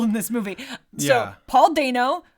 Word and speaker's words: Dano: So Paul Dano, who we found out recently is pronounced Dano, not Dano. Yeah, we watched an interview of him going over his famous characters on YouTube, and he pronounced his own name Dano, and we've always pronounced it as Dano.